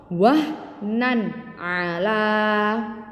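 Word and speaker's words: وَهْنًا عَلَىٰ: Tanwinnya dibaca dengan jelas ya, tanwin dibaca dengan jelas. Contoh wahnan ala. Jadi nunnya jelas.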